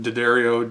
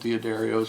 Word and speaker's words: D'Addario: Theodore Dario's on them however you want to pronounce it D'Addario Dia Dairy I've always called it d'adarios I've always heard them called Dia darios I don't give a